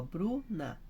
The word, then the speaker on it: Bruna: Pensa comigo, ó, Bruna, senão ficava Bruna, então Bru que é forte, então é paroxítona, igual Madalena.